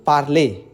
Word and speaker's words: parlez: Yang ketiga yang kalian perhatikan adalah vous parlez, ez. Yang cara bacanya adalah e, seperti ember.